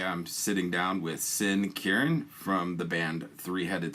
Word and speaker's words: Quirin: The actual, I'll tell you, the actual correct pronunciation, which no one ever gets, is Quirin. Quirin. Okay. Quirin, All right. which is it's a Spanish last name, but everyone in